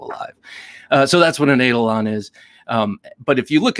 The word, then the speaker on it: Eidolon: And he has a new knife coming out from Wii this year called the Eidolon. And that's how I'm going to pronounce it.